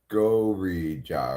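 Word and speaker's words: ゴジラ: While watching that movie, I learned that um, in Japanese, it's really like Gorija or something like that. But because of the way Japanese people pronounce it, Americans thought it was Godzilla.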